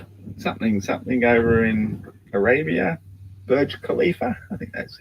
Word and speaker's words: Burj Khalifa: it called again something something over in arabia burj khalifa i think that's how you pronounce it burj khalifa anyway the world's tallest building is one half